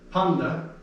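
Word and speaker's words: πάντα: That's a D, not a T. That's one of those special cases where N and T come together to make a N sound. So I'm just going to say it correctly, but again, I'm not expecting you to remember that. So it's panda. If there wasn't an E before that tav, the tav would sound like t.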